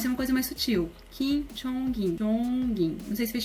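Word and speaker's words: Kim Jongin: Kim Jong-in. Kim Jong-in. Nesse caso, vocês podem ver que meio que pronuncia o G do NG com a sílaba seguinte, porque a segunda sílaba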